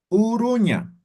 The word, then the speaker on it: Uruña: Uruña. Esto es igualito que el español, ¿no ve?